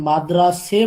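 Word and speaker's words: مدرسه: না, এটা মাদ্রাসা ওই ইতে ফার্সিতে মাদ্রাসে হয়, সে এ উচ্চারণ হয় মাদ্রাসা, ঠিক আছে? মানে আমি শব্দটা যদি জানি ফার্সি তাহলে উচ্চারণটাই এটা, হ্যাঁ হ্যাঁ হ্যাঁ হ্যাঁ। মাদ্রাসা না মাদ্রাসে, ঠিক আছে?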